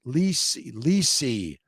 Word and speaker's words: Lissy: Name is Lissy. Pronounced Lisi.